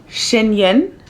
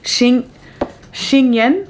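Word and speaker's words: Xian Yin: wrote it down that it's Shiny Yen cuz it's X I A N Y I N. I think X I A N Shin Shing Yen. I think that's how you pronounce it.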